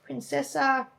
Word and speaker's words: Princessa: All right, next one, baby, is Princessa. Oh, we aren't even going to try to pronounce that one. Something longer by Nestle. Princess Orchikawa or something. No, it's Princessa.